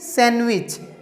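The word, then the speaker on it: sandwich: ठीक है, उसी तरह सैंडविच, सैंडविच नहीं सैंडविच।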